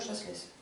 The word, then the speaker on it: Chasles: Qui s'écrit d'ailleurs Chasles. Et on dit Chasles.